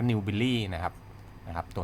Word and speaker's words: Newbiely: ตัว นี้ นะ ครับ อ่าน ว่า New Billy นะ ครับ นะ ครับ